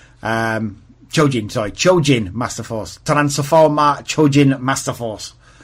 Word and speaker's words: Chojin Masterforce: Chojin Masterforce, I believe it's pronounced in Japanese. Chojin Masterforce.